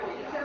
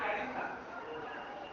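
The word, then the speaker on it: addiction: বিভিন্ন নির্দেশ দিয়ে সেটা এডিকশন মানে স্যার আসক্তি আসক্তি এর আলাদা বানান আলাদা ওটা এডিকশন নয় ওটা হচ্ছে অ্যাডিকশন এখানে ওটাই বলছি শুধু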